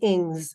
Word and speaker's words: Ings: It's Ings, I-N-G-S, like sings.